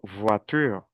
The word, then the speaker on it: voiture: En cambio, yo sé que la o con la i es wa. Yo digo voitur, toi mua, la loa.